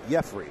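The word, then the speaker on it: Yefry: And Jeffrey Ramirez with a first pitch strike on the fastball. Yeah, we were talking about that. Jeffrey Ramirez, and he spells it Y-E-F-E-Y. It's we would think Jeffrey, like we pronounce our own.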